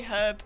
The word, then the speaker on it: herb: I forget the lead up, but the punchline is you say herb, we say You say herb, and we say herb for pronouncing the H because there's a H in it.